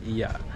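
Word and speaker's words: Oia: It's spelled as O i a but it's pronounced as iya.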